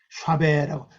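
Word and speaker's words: שָׁוְא: 샤베라고, 샤베라는 샤베. 이 발음이 샤베입니다.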